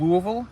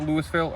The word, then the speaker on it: Louisville: So first, I have a little IPA local from Louisville, Kentucky. That's how you pronounce it here. It's not Louisville. It is Louisville. That's how you're supposed to pronounce it. But everyone here pronounces it Louisville.